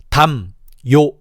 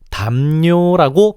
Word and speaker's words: 담요: 담요 이렇게 발음하려면 각각의 음절을 끊어서 읽어야 되잖아. 그렇기 때문에 실제로는 이렇게 발음하지 않고 아주 편하고 자연스럽게 담뇨라고 발음해.